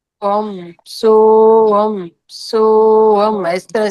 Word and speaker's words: ओम: ले जाए मास्टर और यहां पे ए यू एम ओम का ओ ओ को तीन लैंग्वेज उसमें करना है ए यू एम करके आपको ओम का उच्चारण करना है।